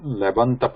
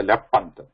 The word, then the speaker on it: lebanta: Sandhi means the pronunciation of pa changing to ba. Lebant. You don't say lepant. Lep plus anta becomes lebant.